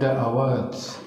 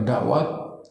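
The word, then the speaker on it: دعوات: Kemudian Allahumma ya mujibad da'awat, bacanya da'awat bukan dakwat. Da'a beri atas, da'awat. Allahumma ya mujibad da'awat, Bukan Allahumma ya mujibal da'wat, bukan.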